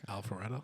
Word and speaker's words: Alpharetta: Alpharetta.